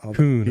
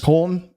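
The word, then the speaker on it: Köln: I'm totally Coon, I think it is. Coln. It's spelled like Cologne. Koln. Colons. Okay. So it's got the Ypsilon or whatever they call it. The umlaut.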